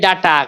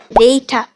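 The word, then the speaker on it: data: কি বলি বেবি কি বলি বেবি আমরা বলি ডাটা কি বলি ডাটা কিন্তু শুদ্ধ উচ্চারণ কি হবে ডেইঠটা রিপিট ডেইঠটা ডেইঠটা আমরা বলি ক্যামেরা এই তোর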